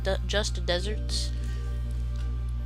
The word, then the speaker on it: deserts: it be pronounced because just deserts think of it like the word a deserter somebody deserves his uh